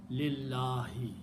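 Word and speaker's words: لله: Harf jar changes this last letter to a kasra, and when you pronounce, you combine lam with the other lam. Don't pronounce alif in between. Lillahi.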